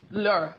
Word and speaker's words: Lure: Lure. Lure. Like when you lure someone in.